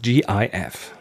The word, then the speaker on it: GIF: Well, it originated as an image format, and it is spelled GIF.